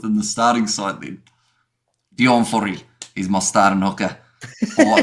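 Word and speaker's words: Deon Fourie: It's like it's Dion Fori.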